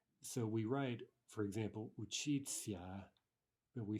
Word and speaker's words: учиться: We write that, but we actually pronounce those as if the ending were a ts-a, right?